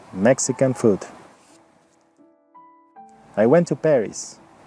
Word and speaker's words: Paris: en parís observa que el acento en el nombre parís en inglés cambia y se dice parís tiene el acento la primera sílaba i want to paris que todas las pintó